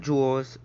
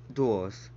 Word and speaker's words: duels: duo just came out not jewels duels yeah tom i know